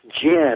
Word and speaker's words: Djinn: So it's jinn. The D is silent.